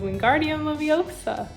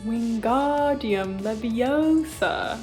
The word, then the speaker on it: Wingardium Leviosa: table and Ron says Wingardium Leviosa but there's Hermione you're saying it wrong it's Wingardium Leviosa make the gar nice and long I remember hearing that